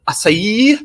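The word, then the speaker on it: açaí: It's the acai berry.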